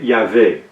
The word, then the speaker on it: Yahvé: Certains prétendent qu'il n'y a pas de son pour la lettre G, comme Jéhovah, ou W, comme Yahweh en hébreu, de sorte que Jéhovah ou Yahweh ne peuvent être des prononciations correctes.